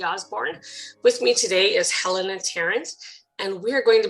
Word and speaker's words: Helena: Your first name is pronounced Helena.